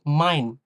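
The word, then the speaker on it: mein: এই ক্ষেত্রে হয় আই। উচ্চারণটা আসে অনেকটা আই। যেমন হ্যাঁ, অনেকটা আয়ের মতো আসে। যেমন মাইন।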